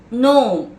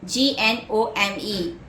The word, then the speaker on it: gnome: Next word, gnome, G-N-O-M-E, gnome, where the G is silent.